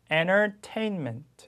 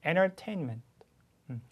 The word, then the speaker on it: Entertainment: 자 잘 쫓아 오세요 자 ntr RT 이렇게 나와 있습니다 자 보시면가 빠지는 거예요 그냥음 그래서 이렇게 n 다음에가 오면 소리가 얘한테 꿀꺽하고 아 그냥 삼지 돼요 먹히게 됩니다 동화돼 그래서 소리가 아예 없어져요 silent 티예요 소리가 나지않습니다 그래서 Entertainment 이렇게 하시면 돼요 Entertainment음 맨 끝에도 강하게